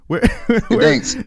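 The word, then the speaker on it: Gdańsk: Gdansk.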